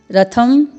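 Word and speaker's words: रथम्: फिर रथम, थ में अनुस्वार है, रथम।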